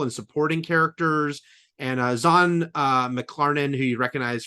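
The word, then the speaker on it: Zahn: No, not only I actually watched a video where he's talking about his name, but it's spelled Z and he says it's Zan.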